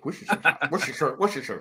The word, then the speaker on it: Worcestershire: Hey, you are one of the first people from below the Mason-Dixon line to actually pronounce Worcestershire sauce correctly. Worcestershire.